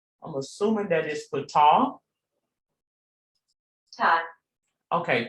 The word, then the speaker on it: Ptah: And let me make sure I am pronouncing Ptah correctly. That is Ptah. I'm assuming that is Ptah. Ta. Okay, Ta.